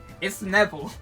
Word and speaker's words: Neville: Is it Neville or Novile? Which one is it? Cuz it's spelled Neville. It's Neville, but Navile is far funnier to say.